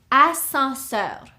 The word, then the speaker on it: ascenseur: The second one is ascenseur. This is an elevator. Ascenseur. Okay. Here we have 1, 2, 3, 4 syllables. Escalier. The second word, ascenseur. 3 syllables.